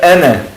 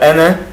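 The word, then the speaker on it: أنا: Reparem que tem o alif, mas eu não pronuncio o alif, porque eu estou juntando.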